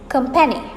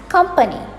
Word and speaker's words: company: A lot of people pronounce this as company. Company. There is no penny in company. So pronounce it as company.